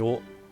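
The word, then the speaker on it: を: Nani nani o onegai shimasu. This o is W-O in Romaji, but it's pronounced as o.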